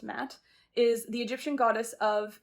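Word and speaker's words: Ma'at: attack yep oop that's a confirm okay matt pronounced matt is the egyptian goddess of integrity fairness and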